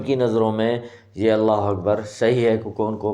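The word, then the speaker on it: أكبر: کے صحیح نہیں ہوتے۔ اکبر، الف کی جگہ پہ وہ وا لگاتے ہیں۔ اللہ اکبر اللہ اکبر، اور اس طرح کرتے ہیں۔ سب سے پہلے وہ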